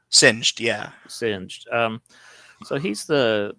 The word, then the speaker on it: Singed: Um, so we also have I can't remember how to pronounce the name. Singed, is that how you say his name? Singed, yeah.